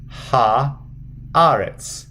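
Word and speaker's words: הארץ: And then the aleph is silent. Aretz. Ha, aretz. Ha, aretz. That's how you read. So putting it together from the beginning. Bereshit bara Elohim et hashamayim ve'et haaretz.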